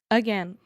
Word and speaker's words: again: Again. So again, the first sound in again, é o som do Schwa. again. Again. That super lazy, relaxed sound.